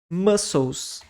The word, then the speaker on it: muscles: veias Bones ossos e essa palavra também tem uma pronúncia não tão intuitiva mas é muscles muscl e o c o que que eu faço com você ignora ele completamente Ok músculos muscles e